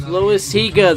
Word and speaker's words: Loizaga: It's Loizaga. They're mispronouncing that badly.